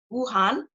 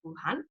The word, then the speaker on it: Wuhan: Now, an interesting study that is currently happening in Wuhan, that's how I pronounce it, Wuhan.